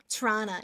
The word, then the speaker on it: Toronto: people who are in Toronto um we butcher the pronunciation of it so we'll say Toronto um but yeah torana yeah there's Marty there's